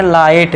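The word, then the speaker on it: light: silent अब देखिए एल आई जी एस टी तो इसे हम पढ़ेंगे लाइट जी साइलेंट कर दिया आर ए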